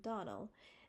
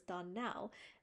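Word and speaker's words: Donnell: you pronounced our name Donal now miss Charley the correct pronounciation of her name is Don Now accent on the last syllable I hope you remember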